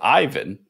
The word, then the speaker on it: Aiven: Okay, so first of all, I'm lucky because the pronunciation of Aiven is the same in the Nordics and in Italy, making my life really easy.